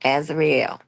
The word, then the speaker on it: Azarel: First of all, that girl name is pronounced Azarel. Okay.